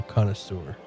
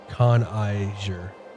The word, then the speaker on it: connoisseur: Glad to meet a fellow connoisseur. He pronounces it Con Iger.